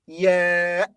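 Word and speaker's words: ي: This letter ya has two pronunciations. The first is ya, as in yes, yes. The second is e, as in cheese, cheese.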